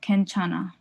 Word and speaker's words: 괜찮아: So hyung sound becomes silent when it's in Batchim. So hyung right here. So this hyung is silent. So whenever you have it like this, it will be ken. So 괜찮아. Because this hyung, just consider that it's like not there. It's there when you write it, but it's when you pronounce it, it's silent.